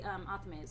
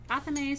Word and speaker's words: athame: Yeah, and these are and people pronounce it differently. Some people say athame, some people say athame, some people say knife, which is definitely easier than both of those.